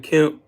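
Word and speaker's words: Kemp: get is Brian km and Greg Ducey Brian km let's see make sure I'm saying it right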